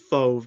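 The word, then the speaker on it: Fauve: that how it's pronounced I think I assume it's pronounced fove because anytime I see an au it always says like an O sound a fove mark you're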